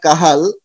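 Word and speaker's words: Cajal: তারপরে থাকে horizontal sell of কাহাল, actually কাজল লেখা থাকলে এর উচ্চারণটা হয় কাহাল।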